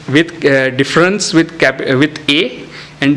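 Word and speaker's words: différance: as we are speaking let us use a French pronunciation to uh signify difference with a M so difference difference right so what does difference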